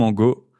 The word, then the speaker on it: Angot: Aujourd'hui, on est avec Angot, c'est comme ça que tu prononces? Oui, c'est ça, Angot.